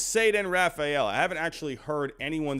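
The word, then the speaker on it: Ceddanne Rafaela: Is it Ceden Rafael? I was saying Cadeni Rafael at one point. Botched that one. I think it's Ceden Rafael.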